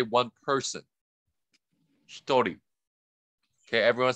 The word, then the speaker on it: 一人: Hitori.